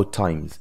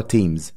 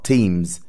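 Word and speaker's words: Thames: تحت مستوى نهر التيمز ممكن اقولها التيمز او التايمز بس المشهوره تيمز تمام وهي بالانجلش بتنطق تيمز يبقى التي واتش هنا ت مش ث يبقى تيمز طيب نهر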